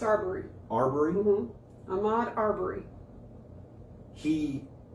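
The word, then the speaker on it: Arbery: Okay, yeah, it's Aarberry.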